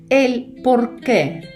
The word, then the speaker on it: el porqué: А тепер, друзі, давайте розглянемо іменник ель порке, який перекладається як причина. Це іменник чоловічого роду. пишеться разом, але з наголосом на останню е із знаком наголосу стільде на останній ельпорке.